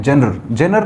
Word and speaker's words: genre: ठीक है, फिर अगला शब्द लिखा हुआ आपके सामने GENRE, कुछ लोग इसे जेनर बोलते हैं, जेनर ना होकर इसका जो एक्चुअल प्रोनाउंसिएशन है दैट इज जॉनर।